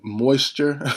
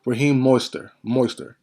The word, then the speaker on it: Mostert: I keep saying Moisture, but Raheem Mostert. Raheem Mostert. I think that's how you say it right.